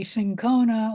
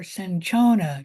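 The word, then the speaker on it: cinchona: from the bark of the sinona or sanona tree either pronunciation is correct and this drug was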